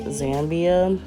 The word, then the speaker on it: Zambia: It's actually pronounced Zambia.